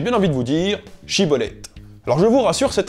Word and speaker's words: schibboleth: la tribu de galade les premiers disant siibolette plutôt que chibolette leur prononciation trahissant leur origine ils étaient égorgés sur